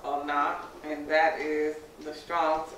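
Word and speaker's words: עונה: All right, so marriage in Hebrew is pronounced onah, and that is the Strong's H5772.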